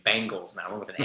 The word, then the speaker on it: Bengals: respect on this name even if I can't pronounce it correctly half the time b e not b i Bangles not Bengals I'm trying to record the other way it's Bengals man I went with an A okay it's